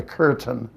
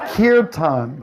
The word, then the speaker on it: kirtan: the kirtan of course sometimes people say they don't know pronounce it like we're going to the curtain they say are you going to the drapes it's kirtan kirtan and in this verse